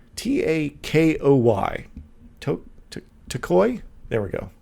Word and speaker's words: Takoy: i never say his name out loud it's t-a-k-o-y to takoy there we go there we go